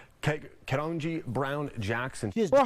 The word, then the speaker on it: Ketanji: Like, Ketanji is how you say Judge.